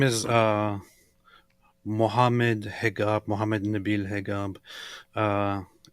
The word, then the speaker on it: Hegab: His name is Mohammed Hegab, Mohammed Nabil Hegab. Uh, in Egypt, they kind of pronounce the same letter that you use for a j sound with a g in traditional ways, and name themselves, and